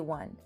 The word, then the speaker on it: one: One begins with an O, but again, it does not have a vowel sound. It has a consonant sound, W, one, like the word wonder.